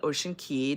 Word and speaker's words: Ocean Cay: We're going to go to their private island, which is Ocean Cay. Some people call it Ocean Key. Depends on how you pronounce it.